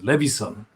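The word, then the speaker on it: Leveson: So Levison.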